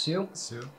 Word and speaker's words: Tsu: on what sue is uh tsu network this pronounced sue and uh i will have you know that